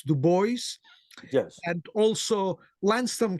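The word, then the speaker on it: Du Bois: the boys I think I'm sorry I think we should pronounce du boys yes and also Al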